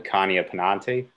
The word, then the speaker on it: Pekania pennanti: Would you attempt to pronounce the scientific name for us? Oh, the Pekania pennanti.